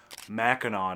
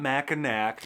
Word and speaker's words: Mackinac: It's Mackinac, not Mackinac. It's Ypsilanti, not Ypsilanti.